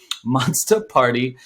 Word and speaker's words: Monsta Party: thing monsta party okay m-o-n-s-t-a how i pronounced it in seventh grade with my tilted hat and listen to 50 cent monster party um is an nft